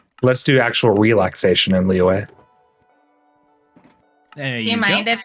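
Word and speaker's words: Liyue: I don't know how you pronounce that Genshin song. Leeway.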